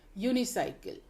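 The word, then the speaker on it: unicycle: यूनिसाइकिल, ये यू से फिर वर्ड बन रहा है लेकिन इसमें ध्वनि आ रही है य।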